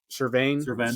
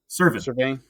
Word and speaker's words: Cervane: So, and that guy that I was talking about when we were on was the Cervane solution. No, it's not Cervane. I was saying it wrong. Cervane.